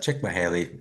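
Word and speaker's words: Csikszentmihalyi: Well, first of all, you know what, I believe his name's pronounced Chickmahaley. Yeah, But he took you into the let see phase.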